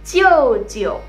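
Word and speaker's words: 舅舅: Sekarang dari pihak mama, kalau mama punya adik atau kakak laki-laki, dua-duanya panggilannya Jiu jiu.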